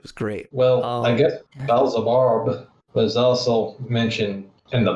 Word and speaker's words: Beelzebub: For the Bizzlebub. Oh yeah. It goes Wait. Beelzebub. Beelzebub. That's how you say it.